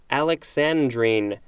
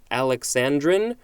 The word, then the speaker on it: alexandrine: great next we have alexandrine a-l-e-x-a-n-d-r-i-n-e it can also be pronounced alexandrine or alexandrine this is a noun